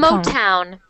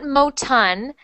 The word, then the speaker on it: Motown: month one time one motown Montone motown monton mo town mall palm so not Moton but Motown so save this sound